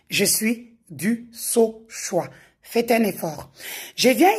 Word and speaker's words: Dusauchoy: Ces derniers temps, vu que je suis beaucoup cité, chacun y va avec sa prononciation. Je suis du saoix.